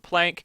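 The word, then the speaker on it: Planck: Maybe it should be pronounced plon, but I usually pronounce it plank.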